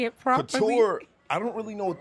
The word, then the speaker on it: couture: Couture.